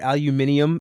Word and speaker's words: aluminium: I'm going to put aluminium at 4. Nice. That's the correct way to say it.